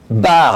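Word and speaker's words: Baert: quel plaisir de recevoir Eric Bard. Alors Eric, on va tout de suite, mettre les choses à plat. On dit bien Eric Bard. Ça s'écrit B-A-E-R-T, mais on dit Bard.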